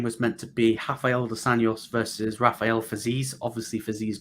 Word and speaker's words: dos Anjos: Now, Rafael dos Arias, is that how you pronounce it? Rafael Dos Anjos, I think. Dohanos. Yes.